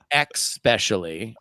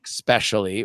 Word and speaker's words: especially: on what I like was especially being uh-huh expecially which I am a guilty person for uh-huh I say especially right mm-hmm the other is nucular versus new